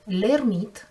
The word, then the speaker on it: L'Hermite: Mais le titre de l'arcane 9 L'Hermite, écrit avec un H muet en français, langue dans laquelle